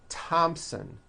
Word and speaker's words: Thompson: like to point out although these next words and names are spelled with a th they are pronounced as if they were spelled with a normal t t like that and